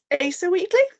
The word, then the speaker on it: Asa Wheatley: comic book artists and writers of the day, Asa Wheatley. Let me just check I am pronouncing that name correctly.